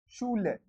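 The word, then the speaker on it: Schule: सो SCH का श हो गया, ऊ का ऊ हो गया शू। देखो ऊ का ऊ है ना, तो लगा दिया। एल का ले, और ई अगर लास्ट में आता है तो उसको पढ़ते हैं ए, शूले। तो यहां पे मैं लिख देता हूं लास्ट में ई आता है तो ए बोलते हैं उसको, शूल, शू ले।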